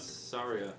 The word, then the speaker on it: Saria: tune? What was it? How do you say your name? Saria.